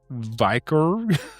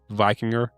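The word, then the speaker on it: víkingr: So, did you know the word Viking likely comes from the Old Norse Vikr, meaning pirate or raider? I'm saying it wrong. It's spelled Vikingr. Vikinger.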